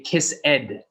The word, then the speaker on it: kissed: we still don't say kiss ed not kiss ed kissed it is a d sound but you don't really say the e just k i s s